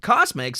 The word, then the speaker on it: CosMc's: In July 2023, announced that they would be launching a new chain of restaurants named CosMc's– pronounced 'Cosmics' and not Cosplay MC like I first thought.